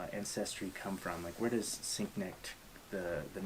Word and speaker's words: Sienknecht: Man, we're getting close to 100, with very special guest, Sienknecht.